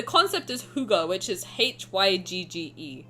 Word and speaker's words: hygge: No, the concept is hygge, which is Hygge. Apparently it's pronounced hygge. I don't know, I don't speak Danish.